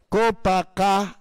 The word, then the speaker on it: Copacabana: Ang tamang tamang pagbasa at pagbigkas doon, Copacabana.